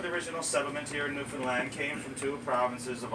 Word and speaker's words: Newfoundland: a dance and a newfoundlandic blue stars of beer and it's pronounced newfoundland not newfoundland or new finland newfoundland is the oldest